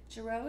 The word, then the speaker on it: Girot: Girot is French, so the T is silent and the O is long.